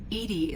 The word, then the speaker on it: EDI: airlock is a jar why are you named edie edie is the phonetic pronunciation of edi that is an acronym for